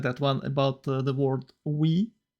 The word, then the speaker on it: oui: Well, I like that one about the word we, because it's written like OUI and it's pronounced we, the only two letters that not in the world that not in the world.